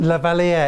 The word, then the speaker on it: Lavalier: Lavalier, it's French.